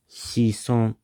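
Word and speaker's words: 子孫: this word meaning son or descendant here is shison, and it's written like that.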